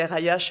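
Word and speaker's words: RAIH: C'est une association, l'association RAI, ça s'écrit R-A-I-H, mais ça se prononce RAI, qui s'occupe des mineurs isolés.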